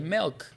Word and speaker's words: milk: ele assim MK Melk porque a pronúncia não é Milk é Melk E aí a guri